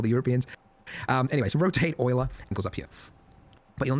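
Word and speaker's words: Euler: to annoy all the Europeans um anyways rotate Oiler go up here but you'll notice that as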